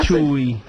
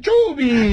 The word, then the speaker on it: Chubby: Que se llene de Chubby. Que se llene de Chubby. ¿Vos sabés que es la primera vez que escucho Chubby? Chubby. Ah, pero Chubby. Chubby, pero se escribe Chubby, C-H-U-B. Como Chubaca. Eso.